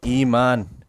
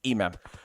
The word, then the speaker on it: Imam: a wrangle let's go iman iman from better esports beautiful play beautiful headshot beautiful awm knock imam imam for some reason i pronounce his name wrong but it's imam purple needs to be very